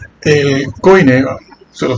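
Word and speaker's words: κοινή: El koiné. El koiné, se lo pronuncio así porque ustedes lo conocen así.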